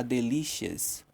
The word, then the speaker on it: delicious: Minha mãe cozinhou, cooked, um delicioso, a delicious, um delicioso, delicious, que é delicioso. Note que a pronúncia é diferente da forma que a palavra é escrita, tá? Delicious, essa é a pronúncia.